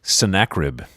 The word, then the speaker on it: Sennacherib: Sennacherib.